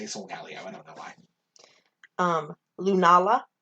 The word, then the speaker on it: Solgaleo: Solgaleo. I say Solgaleo. Solgaleo makes more sense because it's Leo. Yeah. Like, yours makes sense. I just say Solgaleo.